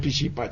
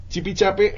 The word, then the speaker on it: Chipichape: que vienen de afuera les cuesta trabajo a veces pronunciarla. Dicen pichipa, chipi, bueno, se enredan. Chipichape, hay muchas versiones, pero